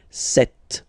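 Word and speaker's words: sept: Then here, remember P is not pronounced. Okay? It doesn't exist. So you've got this set sound set. Set set. Okay. And here final t is pronounced.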